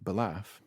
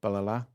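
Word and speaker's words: Ballaugh: That's not how you say that word. Is it not? Balaf is a place in the Alabama. Yeah. In typical Manx fashion, the GH is silent, and you put an extra A in there that's not even fucking in there. So what is it? Balala. Balala. Yeah. That's how you pronounce it.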